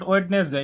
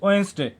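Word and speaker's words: Wednesday: ইট ইজ নট ওয়েডনেসডে, ইটস ওয়েন্সডে।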